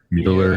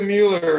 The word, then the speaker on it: Mueller: Mueller. Yeah, it's the Mueller report, not the Mueller report.